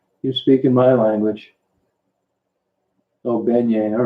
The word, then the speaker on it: beignet: Oh, beignet. All right, I'm sorry. Beignet. Beignet. I'm glad you told me how to pronounce it because I'd have pronounced it incorrectly till the day I died.